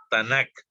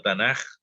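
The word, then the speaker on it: תנ״ך: aquí les estoy diciendo que no es Tanakh, sino Tanaj, ¿no?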